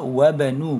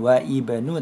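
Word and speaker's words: وابن: kholidin fil madrasati kemudian di kalimat kedua wabnu bukan wa Ibnu Tapi bacanya wabnu berarti alifnya tidak dibaca wabnu Hamidin fil jamiati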